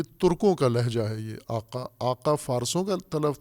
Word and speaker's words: آقا: یہ آقا، آقا فارسوں کا تلفظ ہے اور آغا یہ ترکوں کا تلفظ ہے.